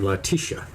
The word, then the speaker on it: Leticia: victim of murder and it goes by the name latisha and it is spelled they leticia in the french spelling and it is a